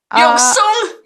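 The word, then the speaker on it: 肉鬆: Yoksong? Yoksong.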